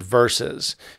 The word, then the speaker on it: versus: So when you see versus, you might see it in English written VS, but we always pronounce it versus.